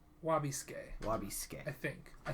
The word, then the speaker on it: Wabisuke: next character is wabasuki wabisuke uchi wabisuke i always wanna say suki it's they don't say the su they just say wabiscay lobby skin i think